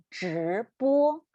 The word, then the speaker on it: 直播: 直播. We need to roll our tongue up again. Yeah, so roll your tongue up and pronounce 直播.